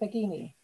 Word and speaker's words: Baggini: And going back up high, I noticed Julian Baggini, who I've interviewed before, and I may have got your surname wrong. Is it Baggini?